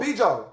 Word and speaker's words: bijou: Oh, Bijo.